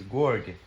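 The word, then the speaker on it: گرگ: Wolf in Farsi is gorg. Gorg? Yeah. Like that? Yes. So I wrote G-O-R-G because in my mind that's how it's pronounced.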